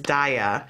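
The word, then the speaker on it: Daiya: And there's a new kind of cheese that's out that I believe the correct pronunciation for it is Daya.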